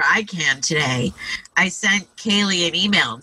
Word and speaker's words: Kailey: can today i sent kaylee an email and said we're recording your podcast right now how do you pronounce your name oh good and she said it's kaylee so so i thought